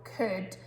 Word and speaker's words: could: Now, could doesn't sound, it's a tricky word, the sounds don't really match with how we say it. First of all, it's got a curly K, but it sounds like a kicking K. So we've got that hard C, so could. And also that OULD sound, it doesn't make that old sound you would think it does, it makes ud, could.